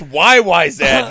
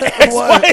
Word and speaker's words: YYZ: Also, it's YYZ, not XYZ.